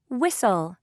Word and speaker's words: whistle: you hear k no whistle whistle do you hear h no architect architect do you